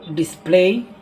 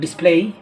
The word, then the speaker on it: display: বললাম ভালোভাবে খেয়াল করো ডিসপ্লে আরটা বললাম ডিসপ্লে টান দেবো না মানে দীর্ঘ মানে দীর্ঘস্বরটা দেবো না মানে জোর মানে কি লম্বা টান দেবো না ঠিক আছে লম্বা টান দেওয়া যাবে না তাহলে কি বলবো ডিসপ্লে